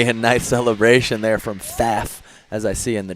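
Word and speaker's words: Pfaff: shock to anyone uh but yes it's p f a f f but apparently he prefers to be called silent p a little bit of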